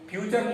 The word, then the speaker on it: future: होता क्या है कि फ्यूचर लिखा होता है ना, FUTURE फ्यूचर, जबकि उसको फुटूरे पढ़ लेता है। फ्यूचर नहीं पढ़ पाता है।